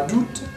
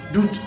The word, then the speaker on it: août: d'où c'est le mois d'août mais le huitième mois de l'année en fait je connais moins doux et vous vite du mois d'août nous on prononce pas le thé en fait si vous